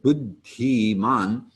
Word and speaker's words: buddhiman: So the third line has two D's in the second word, buddhiman, and the H is also pronounced.